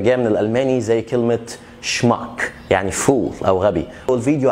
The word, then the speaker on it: schmuck: دايرين قوي ال S C H بتتنطق شا في كلمات بتبقى جاية من الالماني، زي كلمة schmuck يعني fool او غبي.